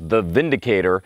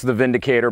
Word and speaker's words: Windicator: decided to call this The Vindicator and I'm assuming that's what they call it because with what little I know of the German language the you pronounce a w like a V and so this is